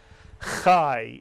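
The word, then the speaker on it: חי: Chai is correct. The patach yud is always pronounced I in Hebrew.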